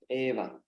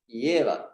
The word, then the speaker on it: Eva: Eva Sameva Gre, So, people from Tamil Nadu will say very often Yeva. So it's not Yeva, but because in their alphabet they don't have E, they say Ye.